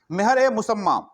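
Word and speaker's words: Mehr-e-Musamma: मेहर ए मुसम्मा, sorry, हाँ I think so, हाँ मेहर ए मुसम्मा, यही प्रोनाउंसिएशन है।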